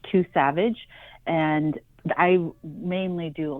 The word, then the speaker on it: II_SAVEDGE: It's pronounced Too Savage.